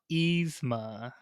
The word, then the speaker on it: Yzma: Yzma. Yzma. Very close to Esma.